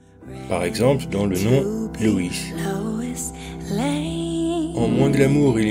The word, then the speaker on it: Loïs: Si on veut entendre OI séparément, il faut mettre un tréma. Par exemple, dans le nom Loïs.